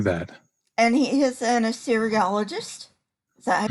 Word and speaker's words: Assyriologist: And he is an Assyriologist. Is that how you pronounce it?